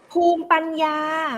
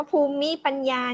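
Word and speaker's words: ภูมิปัญญา: ว่า คง มี ปัญหา ภูมิ ปัญญา ไม่ ได้ อ่าน ว่า ภู มิ ปัญญา นะ ภูมิ ปัญญา เอา ดี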